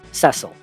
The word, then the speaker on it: Cecil: In FF4, the only constant in your party is the main character, Cecil. And yes, that is the official pronunciation, I'm sorry.